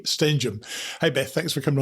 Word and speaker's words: Stenehjem: the show today although I do have a few issues pronouncing her name she just actually reminded what it is this is Beth Bary stenum Hey Beth thanks for